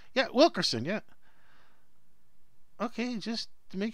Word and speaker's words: Wilkerson: Yeah, Wilkerson.